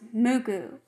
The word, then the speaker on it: MUCC: saved my life when i discovered the band muku which is spelled mucc but in japanese it's pronounced mugu it saved my life and then i just